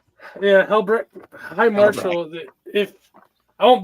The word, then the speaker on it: Helbrecht: How do you pronounce that name? Helbrecht? Yeah, Helbrecht.